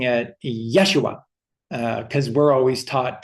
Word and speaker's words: Yeshua: So it's Yeshua, but it's Yesua because the focus is always on the second syllable. So it's Yeshua. Yeshua.